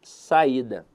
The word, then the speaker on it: saída: avaliar com vocês aqui a palavra saída veja que a sílaba tônica dela está na penúltima sílaba então a verdade é